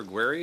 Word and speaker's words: Aguirre: Aguary, is do I have uh your am I pronouncing your name correctly?